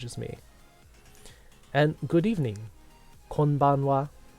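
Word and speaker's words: こんばんは: Konbanwa. Konbanwa.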